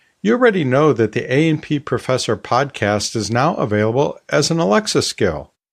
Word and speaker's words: A&P: By the way, the invocation phrase that you need to use with Alexa does not pronounce the ampersand, that little and symbol in the podcast name. So it's AP, not A and P.